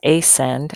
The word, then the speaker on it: ascend: The opposite of descend is ascend. And notice those are spelt kind of funny because the C is silent.